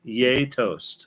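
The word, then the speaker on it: gjetost: so grab yourself some g j e toast yay toast it's all one word yeah pronounce like yay toast yay toast don't count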